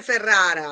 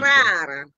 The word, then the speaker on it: Ferrara: la devo correggere, Sì, ma signor Libraio, non si dice Ferrara, come si dice si dice? Frara.